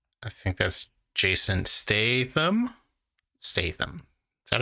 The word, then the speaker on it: Statham: Statham. Is that how you pronounce Statham?